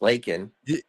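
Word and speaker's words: Laken: I know it's Lakin. Yeah, Lakin. I don't know where they get Lincoln from. Maybe Lakin, Lincoln, maybe it sounds the same.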